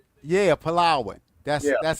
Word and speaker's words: Palawan: Yeah, Palawan. That's that's how it's pronounced. Palawan.